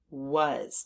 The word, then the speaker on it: was: that part by heart and the Z or the S is making a z sound which we haven't learned about yet but sometimes the S does that so so this is was was there are several parts